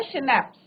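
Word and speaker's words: Schnapps: Right, जो alcohol है, drinks है, शनैप्स, इसका प्रोनाउंसिएशन कैसे होगा, शनैप्स।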